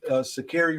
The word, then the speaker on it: Sha'Carri: It's Sha'Carri. But We just out here trying to pronounce her name right.